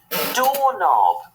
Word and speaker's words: doorknob: Ooh, it's a doorknob. And doorknob has the silent K also.